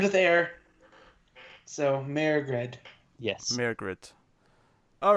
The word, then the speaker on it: Mairghread: at his surname so god meride is the the gaelic pronunciation the original spell the pronunciation of the of that name however she has tweeted in the in the past that she goes by the americanized saying of it which is just margaret merrick reds yes around